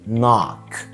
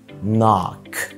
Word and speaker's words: knock: عندنا كمان لما ال K بيبقى جاي بعدها ال N، ال K بتبقى silent او صامتة في كلمات زي knock يخبط، knock knee ركبة، knee.